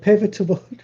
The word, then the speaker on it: pivotal: Pivotal. Pivotal. You're adding an extra syllable in there.